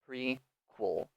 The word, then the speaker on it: prequel: Also be careful in this pronunciation of the second syllable. Um, we do not say the E really, so you can say sequel and prequel and really say the E sound, but a very natural pronunciation, we do not say it. So it's really just sequel, prequel.